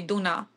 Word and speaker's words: Duna: at home I mean in Hungary we say Duna oh okay Duna interesting I wonder why